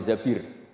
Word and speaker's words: Zabir: nikah sama Abdurrahman bin Zabir. Di hadis ini bukan bacanya bukan Zubair tapi Zabir.